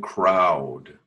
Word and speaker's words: crowd: no it's crowded and crowd clout crowd yeah right it's pronounced like clown except with an L so you're okay there